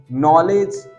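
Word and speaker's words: knowledge: गया साइलेंट हो गया नॉलेज ए एन O blue ल ए दी के नॉलेज तो यहां पर के पहले क्या ए गया एन तो साउंड क्या हो गया साइलेंट हो गया बात समझ में ए रही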